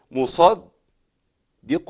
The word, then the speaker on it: مصدق: أنا عندي أي حرف مشدد في القرآن الكريم، أي مشدد هو عبارة عن إيه؟ عن حرفين في النطق، بنطق الحرف الأول ساكن والثاني متحرك. طيب الاتنين زي بعض؟ زي بعض طالما في شدة. طيب الخطأ فين؟ الخطأ ان انا ابدل الدال الاولى بضاد، اقول ايه؟